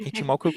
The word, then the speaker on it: Ichimoku: And another thing that I know that you're into is the Ichimoku. Is that how you pronounce it? Ichimoku clouds?